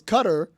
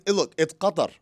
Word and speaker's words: Qatar: It's Qatar. It's Qatar.